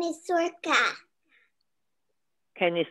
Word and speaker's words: Sorcha: good good what's your name my name is circa can you spell it for me s o or c h